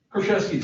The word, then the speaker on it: Kraszewski: Is that pronounced Kraszewski? Kraszewski, sir.